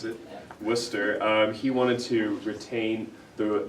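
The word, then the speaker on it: Worcester: dictionary guy named Wooster that's that's how you pronounce it Wooster he wanted to retain the the old English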